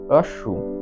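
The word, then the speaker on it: wrong: রং মানে হলো ভুল ডব্লিউ এরপরে আর আসছে তাহলে ডব্লিউ এর উচ্চারণটা সেই জন্য সাইলেন্ট হয়ে যাচ্ছে বা ডব্লিউটির উচ্চারণ হচ্ছে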